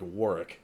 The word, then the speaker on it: Warwick: w a r r i c k like wari wari yeah okay but in his name is spelled w a r w yeah I I